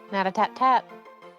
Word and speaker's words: Natatat: What kind of grade did you get on your essay, Natatat? Natatat. Tat. I keep forgetting that there's one more tat in there. Natatat.